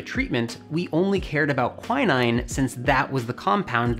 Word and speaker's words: quinine: compound in it called quinine quinine if you pronounce it the uk way so in 1820 a